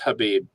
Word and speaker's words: Khabib: Khabib, till he gets beaten, he's the best. Question: is it Khabib or is it Habib? Because I've heard both. It's pronounced Habib.